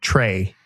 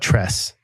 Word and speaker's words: Tres: So yeah, it's Broggi, Biggie, and Trey, but Tress.